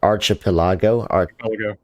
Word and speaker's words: archipelago: So how do you say that word? Archipelago? Archipelago. Okay.